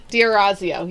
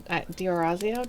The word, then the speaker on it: D'Orazio: and it says that it is pronounced just like it's spelled. So it's yes, That's the pronunciation. Diorazio, yeah. Diorazio, did I say that right?